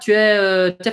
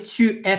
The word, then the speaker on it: tu es: Tu es français? Tu es français will often sound like t'es français.